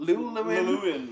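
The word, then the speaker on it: Llewellyn: Lewin, yeah.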